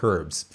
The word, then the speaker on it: herbs: Herbs or herbs? I like to pronounce my H in there, herbs.